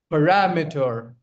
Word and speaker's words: parameter: Okay, parameter. Parameter. Okay. Parameter. So the stress lies on param parameter.